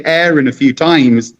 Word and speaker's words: Aaron: And once they say Aaron a few times, they tend to call me Aaron. But as soon as I say they say, "What's your name?" And I say, "Aaron." And they say, "Oh, how do you spell that?" And I say, "A double A R O N." They go, "Oh, you mean Aaron?" Or we say Aaron.